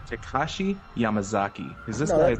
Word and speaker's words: Takashi Yamazaki: This is all thanks to, now I'm not going to butcher this name, Takashi Yamazaki.